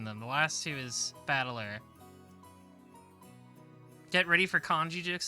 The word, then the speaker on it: Battler: my given name yeah the last two characters is made up of the characters for fight and person and it's pronounced battler put it all together